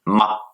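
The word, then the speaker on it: 吗: Le deuxième caractère que nous allons voir, il se prononce ma ton neutre et il s'écrit de la manière suivante.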